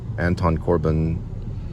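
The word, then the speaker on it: Anton Corbijn: this little five minute video uh for control Anton Corbin that's how you say his name with Sam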